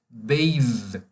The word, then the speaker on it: bathe: Pois bem, é a palavra the, por exemplo, que é pronunciada desse jeito. The. Ou o demonstrativo, that. Ou banhar-se, bathe.